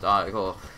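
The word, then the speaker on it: ichor: That is pronounced Icor.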